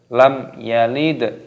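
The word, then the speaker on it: لَمْ يَلِدْ: intinya kita jelas ini sebagian pemula Itu membacanya lam yalid the itu didengungkan ataupun dipancangkan itu tidak boleh harus diperjelas cara bacanya Bagaimana lam ia Lite lam yalid Jadi tidak boleh lam dan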